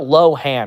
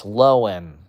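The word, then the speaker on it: Lohan: It's not Low Han. It's Loen. She made that very clear. It's Lohen. Lindsay Lohen. That's how her last name is pronounced.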